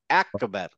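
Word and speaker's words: أكبر: যেমন ধরেন আল্লাহু, আমরা বলি আল্লাহু আকবার, আকবার, ওরা আকবার বলে না, বলবেন দেখবেন একবার, আ আ। হ্যাঁ, কিছুটা একবার।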